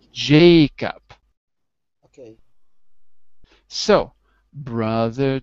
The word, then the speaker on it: Jacob: wait wait wait wait remember I put a one next to Jacob because we agreed that it's the first animal in our chart it's snake so it's Jacob okay so brother Jacob repeat brother Jacob brother